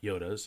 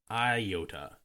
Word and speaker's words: iota: side of history and Truth this reference about Yodas has you see a specific historical context side note the reference to the ninth letter of the Greek alphabet is pronounced Yoda not I Yota unlike o which receives both Micron and mega